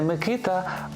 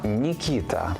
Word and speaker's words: Микита: згідно з російською вимовою не Микита а нікита не Кирило а Кіріл не Данило А даніла чи Даніїл без сумніву батьки мають